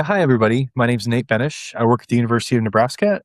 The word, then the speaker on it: Benes: Benish. Benish. Perfect. So um Please introduce yourself. Let us know who you are and what you do. Yeah, hi everybody. My name's Nate Benish.